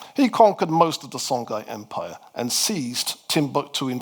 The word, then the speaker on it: Songhai: We then moved to the third of the great West African desert empires called the Songhai Empire. Some people pronounce that as Songhai.